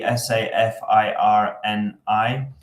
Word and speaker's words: Safarini: So Safarini, spelled phonetically, Safirini.